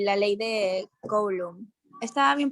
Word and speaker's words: Coulomb: Fuerza eléctrica y la ley de Coulomb. ¿Estaba bien pronunciado, profe? Sí, Coulomb, está bien.